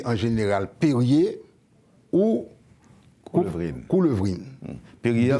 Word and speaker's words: Perrier: Perrier s'écrit P-E-2-R-I-E-R. Comme l'eau Perrier.